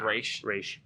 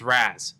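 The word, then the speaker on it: Ra's: one irritates me because people will argue with me on it they're like it's razz no it's race it's razz it's spelled ras and i'm like it's not english it's race it's an actual [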